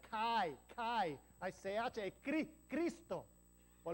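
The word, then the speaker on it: χ: La X es una palabra griega. Es la CH, que se pronuncia Kai.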